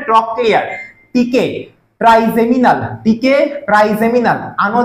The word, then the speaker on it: ট্রক্লিয়ার: তামাক ট্রক্লিয়ার, ততে ত দিয়ে আমরা ট উচ্চারণ করবো এখানে, ট্রক্লিয়ার।